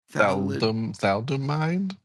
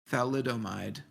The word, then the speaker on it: thalidomide: how do you say that what is that thalomid thalidomide yes Stark weather homicide children of thalidomide yeah